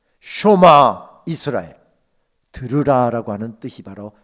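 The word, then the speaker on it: שְׁמַע: 흔히 우리가 쉐마 이렇게 합니다만은 정확한 발음은 쇼마입니다. 쇼마 이스라엘, 들으라라고 하는 뜻이 바로 쇼마라고 하는 뜻입니다.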